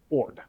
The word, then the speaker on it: Ord: James and replacing him with Major General EOC Ord. What? That's his name, EOC Ord. Come again? EOC Ord. That's how it's spelled?